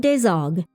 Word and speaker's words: Desargues: And it was here in 1591 that Gerard Dezog was born into a prominent family.